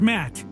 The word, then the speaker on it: Matt: not an inch less the name's matt the second t is silent okay matt i'm gonna